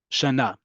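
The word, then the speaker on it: שנה: Okay, but otherwise, 95% of the time, you're not going to pronounce the hey at the end of a word. Shana, Shana Tova, we're going to say in a few months from now, right? Totally silent.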